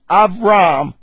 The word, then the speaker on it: Abram: and we see that Abram was as like it's avram exalted father Abraham is